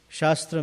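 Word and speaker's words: शास्त्र: other up you know in sanskrit shastra and shastra both are the same spelling in english but the pronunciation is different sastra means scripture and shastra means weapon so often times we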